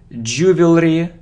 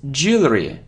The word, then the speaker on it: jewelry: face surface surface good so it isn't ju or juu no no no it's jewelry jewelry je lry so je jewelry okay you see that